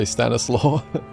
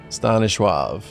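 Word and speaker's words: Stanisław: do you pronounce it I kind of just want to say Stannis law uh Stanish wav that's what it is stav stav shulski widely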